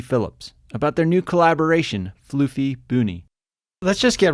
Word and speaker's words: Flüffy Bünny: Flüffy Bünny.